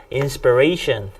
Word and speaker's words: inspiration: 다음 요거는요, inspiration. 강세가 여기에 있습니다. inspiration 하면은 영감을 주는 것, 영감이나 자극을 주는 것 또는 그런 사람 이렇게 되는 건데요.